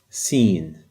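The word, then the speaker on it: سين: Sin. The name of this letter is Sin. It's the equivalent of the letter S.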